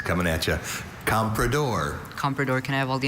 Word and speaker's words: comprador: Compredor is the only pronunciation of this noun.